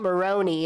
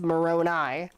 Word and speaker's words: Moroni: It's not Moroni, it's Moroni.